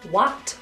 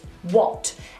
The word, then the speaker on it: what: This word contains the letter A, however, it is not what or what, it's what, a shorter version of the or sound.